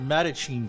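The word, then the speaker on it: The Mattachine Family: The Madachine family.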